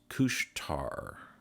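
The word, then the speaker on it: Couche-Tard: Additionally, I didn't mention on the last update that I'm tracking the sister brand of Circle K, which is pronounced Kushtar, even though it's spelled differently.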